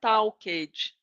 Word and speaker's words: talked: So here we're going to use ed as a T, the ed of T, the ed has the sound of T because the last letter of the verb is K.